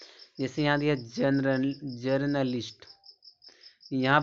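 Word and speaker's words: journalist: रहा है यहां देखो ओ यू ओयू का जो चरण होता है वह छोटा आ निकलता है दोस्तों छोटा आ निकलता है जैसे यहां दिया जनरल जर्नलिस्ट यहां पे देखो ओ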